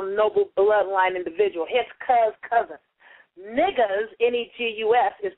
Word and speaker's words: negus: N-E-G-U-S is pronounced niggas, okay? It's not nigu. It's N-E-G-U-S.